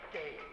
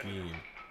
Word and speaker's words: Gaines: Eric Gaines. He says Gain, even though that's pronounced Geen.